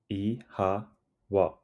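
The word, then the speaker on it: Oíche mhaith: Ihawa. It sounds like ihawa. The O has a long sound and the MH is pronounced like a soft W.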